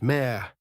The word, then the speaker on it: me: The me, pronounced mer, were the divine ordinances, the rules, the decrees.